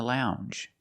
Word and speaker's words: lounge: Longer and we have the J sound. The regular N plus the J sound. Lounge. Lounge.